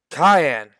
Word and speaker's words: Cayenne: Meanwhile, back in the cave of Minotaurs, Cayenne.